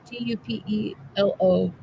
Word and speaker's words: Tupelo: How do you pronounce that? Tupelo? Tupelo, Mississippi.